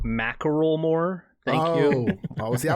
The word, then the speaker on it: Macklemore: It's pronounced Macklemore.